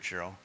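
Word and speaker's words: Ciro: Raise your hand if you have a question, and Chiro, right up here, Chiro. And Chiro will come running around to you. By the way, Chiro is spelled C-I-R-O.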